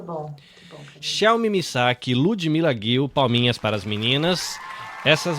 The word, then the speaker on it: Ludmila Ghil: Então é o seguinte, ludmilaguil @ludmilag com gh. Eu tô pronunciando seu nome direito, tá certíssimo. Você tá de para palminhas para você agora aí, ó.